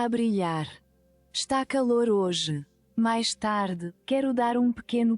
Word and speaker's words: mais: Is it mais or mais? O sol está a brilhar. Está calor hoje. Mais tarde, quero dar... Mais. Okay, it's mais. It's really mais.